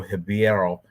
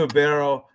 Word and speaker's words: Ribeiro: And he's taking on this guy, Claudio Ribeiro, because the R is pronounced with an H.